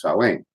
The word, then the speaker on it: Samhain: h AI n but because it's in garlic it's pronounced so ain't yeah you've got that thing over there on